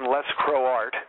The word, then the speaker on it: Lescroart: yeah check out my website it's www John lescroart which is how my name is spelled even know you're pronouncing it perfectly Doug